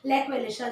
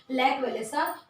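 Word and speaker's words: Lech Wałęsa: और उनका नाम था लैच वेलेसा। लैक वेलेसा जो आप बोल सकते हैं, उसको प्रोनाउंस कर सकते हैं, लैक वेलेसा।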